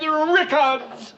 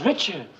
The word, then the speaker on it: Richards: You said Rickards. I don't get your point, Murr. Her name is Richards.